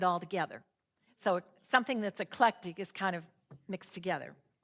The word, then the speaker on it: Eclectic: So, another town you've probably heard of is this one, and it's not echollectic. It's only three syllables. Eclectic, which is a word,